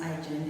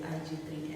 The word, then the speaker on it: 1-G3N: I'm from IGEN, it's pronounced IGEN if people say IG3, and we assemble lithium-ion batteries here in Four Ways, Johannesburg, and we started in 2018.